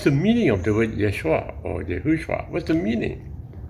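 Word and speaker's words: ישוע: to be the name Yeshua right you have heard of that name Yeshua you can also pronounce it as Yahushua so that's the Hebrew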